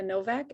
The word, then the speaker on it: Nowak: My name's Nowak. It's a weird last name, spelled with a W, pronounced with a V.